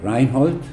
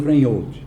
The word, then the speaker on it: Reinhold: Tá, sim, é um nome de origem alemã, Reinhold, que seria a pronúncia correta, né? Mas acho que nem minha mãe me chamava. Rapaz, dá trabalho. Pronúncia, mas acabou ficando Reinhold, né? Então todo mundo chama de Reinhold.